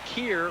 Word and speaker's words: Keir: Keir Rogers, like rhymes with beer, I guess.